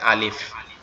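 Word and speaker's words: ألف: সেটা হচ্ছে আমাদের উপরের দুই দাঁত, নিচের এই যে ঠোঁট আছে এই ঠোঁটের সাথে লাগবে, লেগে উচ্চারিত হবে আলিফ। একটু বাতাস মতো বের হবে, উচ্চারিত হবে আলিফ আলিফ আলিফ।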